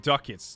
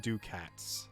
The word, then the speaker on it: ducats: It's pronounced ducats, not ducats.